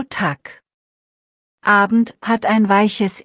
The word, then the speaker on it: Tag: Kurze Aussprachebox, ganz simpel, Tag hat ein hartes G am Ende, so Tag.